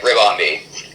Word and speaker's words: Ribombee: Yeah, looks like I was right. Ribombee.